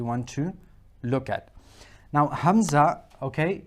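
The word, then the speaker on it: همزة: name is Hamza but the sound that it's going to produce is an a sound like a now let's look at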